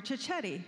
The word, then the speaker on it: Ciocchetti: his name is chichetti which rhymes with spaghetti and we're glad that